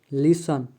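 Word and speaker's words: listen: T silent, शब्द के अंत में आए हुए TEN या TCH का टी प्रायः साइलेंट होता है, जैसे कैच, लिसन, लैच, सोफन, इन सभी वर्ड में टी साइलेंट है।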